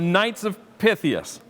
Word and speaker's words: Knights of Pythias: i am joined by ed kale from the knights of pythius am i pronouncing it right yes okay so knights of pythius they began their philanthropy back in 1864.